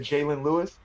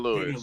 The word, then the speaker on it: Daniel Lewis: You said Jalen Lewis? No, Daniel Daniel Lewis.